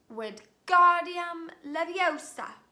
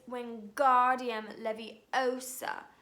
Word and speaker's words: Wingardium Leviosa: "Wingardium Leviosa," he shouted, waving his arms like a windmill. "You're saying it wrong," Harry heard Hermione snap. "It's Wingardium Leviosa. Make the gar nice and long."